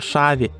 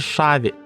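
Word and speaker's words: Xabi: наприклад звідки сам Алонсо він вже шаві чи чаві бо тут буква х звучить як ша або ч але ж в його імені є буква П куди вона ділася Спитаєте ви а іспанці просто вимовляють її інакше щось середнє між б та в але писати і говорити правильніше саме в звернімося до правил вимова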